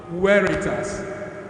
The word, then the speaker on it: Veritas: ITR so it's written on the board Veritas but we pronounce it what weitas weitas noes Lumen is